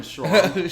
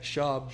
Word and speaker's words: Schaub: Shout out Brendan Schwab. Schwab. Schwab. How do you say it? Schaub.